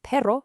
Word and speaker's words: perro: You'll hear it at the start of a word, or whenever you see a double R, like in the word perro for dog.